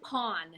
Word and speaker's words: pawn: are great examples too aw lawn in a w Pawn you're not gonna say the lown or the pound or I'm gonna pound my watch lawn Pon Eon a lot of